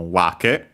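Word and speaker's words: 訳: It's accented on the first syllable, so wake.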